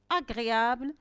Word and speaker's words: agréable: Agréable, est-ce que j'entends je? Non, j'entends le son g. La lettre G est suivie de la consonne R. Il se prononce g. Il ne se prononce pas je.